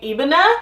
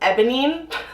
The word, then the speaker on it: Ebene: So my bag is actually in the color Damier Ebene, and I've been calling it Ebonine ebonine for the longest time, and that is totally incorrect. So that's how you say it.